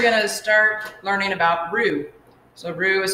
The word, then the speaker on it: roux: Fontaine here, and today we're going to start learning about roux. So roux is spelled R-O-U-X, and the reason we learn to